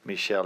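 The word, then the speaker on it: Míchel: With this budget, probably means how good of a manager Michel is. Is that the way to pronounce it?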